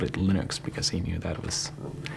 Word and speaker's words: Linux: questions from the easy category how do you pronounce linux well i pronounce linux as linux however however the total answer to that is